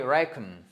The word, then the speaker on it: reckon: Donc vous avez une première syllabe ici, une seconde syllabe ici et quand vous avez l'apostrophe ici, ça nous indique que le stress est sur on the first syllable.